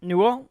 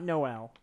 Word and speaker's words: Newell: Gabe Newell. Yeah. Of Valve. I believe it's pronounced Newell. Newell? Yeah. No, Newell. Not Noel.